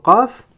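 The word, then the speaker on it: قاف: Alors on avait dit que la lettre Qaf, ça correspondait à un kaf emphatisé. C'est-à-dire que pour passer de la lettre kaf à gauche ici à la lettre Qaf, il va falloir faire une emphatisation.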